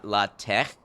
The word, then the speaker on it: LaTeX: Latex, you think is supposed to have the Scottish CH sound? Like la tech?